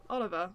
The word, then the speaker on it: Oliver: And you had Peter Solberg and Olivier Solberg. Oliver. Yeah, Oliver. Sorry, Oliver. Yep. It's because, yes, they were discussing French pronunciations.